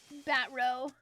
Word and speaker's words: Batreaux: Batreaux. I don't know why, but the EAUX always gets me. I always say it wrong. Even though I know that you're supposed to not pronounce it.